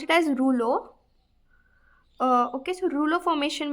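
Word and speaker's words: rouleaux: It is not Rolex. You pronounce it as ruo.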